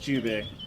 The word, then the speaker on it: Jubei: It's pronounced Jubei, but No.